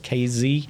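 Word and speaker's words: Kazee: the atlanta safety demante casey is that how you say it kz yeah uh you know he's played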